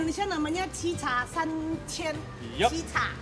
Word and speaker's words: Chicha: Cica, bacanya Iya. Cica ya.